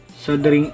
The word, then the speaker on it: soldering: muna natin ang ating sing iron sabi ni Google silent L sing iron at pag mainit na